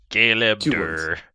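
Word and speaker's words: Galeb Duhr: spell that for me it's like the name Caleb but with a G okay and then duh R galeb dur yeah dur GB he's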